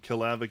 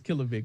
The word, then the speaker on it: Kilovic: And the EP was produced by Kilavic Beats, right? It's Kilovic, but yes.